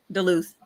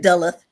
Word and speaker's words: Duluth: Alpharetta, and Atlanta, and Duluth. He said Duluth. It's Duluth. Look, hey, this the southern Duluth.